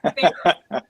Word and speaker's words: Farro: So Jason Schachter, who is my art dealer, has been saying Viktor Farro. And so I've been saying that, and I've been saying it wrong. And yeah, so anyway. So now you can crush Jason. Jason, if you were listening, it's Farro.